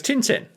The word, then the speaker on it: Tintin: No, it's Tintin. It's It's pronounced Tantan.